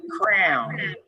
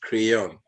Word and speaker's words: crayon: one differently let's see crayon I pronounce it Crown we pronounce it cron call it crayon we call it crayon